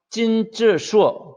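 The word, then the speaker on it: 金智硕: 여기서는 찐즈슈어 이렇게 돼 있죠. 찐즈슈어 김지석. 자, 김지석이라고 해도 돼요. 我叫 김지석 이렇게 해도 되지만은 이제 한자니까 중국어 발음으로 我叫 찐즈슈어 찐즈슈어 이렇게 하는 것이죠.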